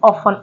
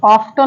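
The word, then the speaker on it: often: है ऑफ ऑफ में यहां पर टी साइलेंट है इसे पढ़ेंगे ऑन ऑफ्टन नहीं पढ़ेंगे ऐसे ही वर्ड है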